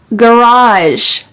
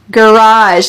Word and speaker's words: garage: so I have kind of an unusual story garage garage this is the American English pronunciation with hard G sounds garage garage I